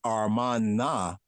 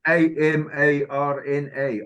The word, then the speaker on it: Amarna: But as far as Armana, right? Armana, right? And that's from ancient Egypt, right? I'll have to look at the glyphs on that. Yeah, really... it's Amarna, Armana. Amarna. That's how it's spelled, you know.